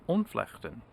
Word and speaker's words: ontvlechten: rather not seeing is the Dutch concept of unflechten which in this conceptum is how you pronounce it um interesting context means disentangling I'll